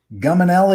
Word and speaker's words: Guminelly: jump into our topic today's topic is gum and le am I saying that right yeah okay you